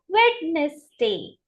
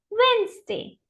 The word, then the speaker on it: Wednesday: right now how do we pronounce it as mispronounce it as wedness day so wedness Wednesday first silent Wednesday repeat after me Wednesday next